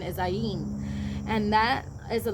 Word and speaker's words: ayin: this the pronunciation is ayin and that is a letter of one of the hebrew alphabets but just think of the sound it says i in so what you're seeking